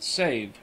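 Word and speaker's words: Sèvres: authorized artists the name of the town is pronounced save Madame pomidor is said to have been the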